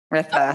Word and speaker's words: Ritha: So the H is silent. Ritha.